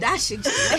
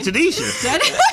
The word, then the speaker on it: Tadashi: then, Is that how you say it? I mean, Tadashi. I thought you said Tadisha.